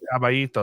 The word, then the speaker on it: Caballito: Kind of, T pronounces Caballito. Caballito.